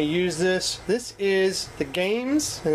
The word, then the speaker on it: GAEMS: just want to use this this is the games and it's spelled g a e m s Mi or